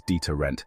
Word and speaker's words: deterrent: a deterrent to theft we pronounce deterrent as deterrent with the stress on the second syllable here's how you can